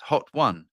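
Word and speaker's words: Hotone: It says pronounced Hot One.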